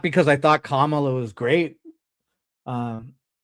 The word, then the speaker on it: Kamala: But oh, I mean, I tried to have optimism, not because I thought Kamala was great. Um, Kamala, like a comma.